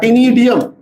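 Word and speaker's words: ctenidium: Respiratory organs can also be tinidia, but tinidium, C is silent.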